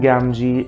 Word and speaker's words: Gamgee: frodo's friends sam gamgee i've written it from here but that's how it's pronounced sam gamji is my absolute favorite character